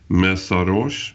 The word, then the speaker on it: Mészáros: And to discuss this topic, joining us today, we have Melissa Mészáros. Was that correctly pronounced?